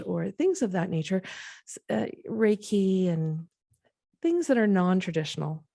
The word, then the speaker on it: Reiki: yes i was there was a ricky am i saying it right reiki reiki there was a reiki